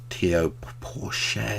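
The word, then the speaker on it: Théo Pourchaire: people who've been performing well, like Oscar Piastri, Theo Pourchaire, is how you say the name, and all those other F3 graduates, which is a shame.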